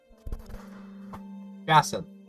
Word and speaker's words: jacinth: Jacinth. It is Jacinth. What? Oh, I was just wondering how to spell Jacinth, to pronounce Jacinth, because the C in here... it appears to be Jacinth.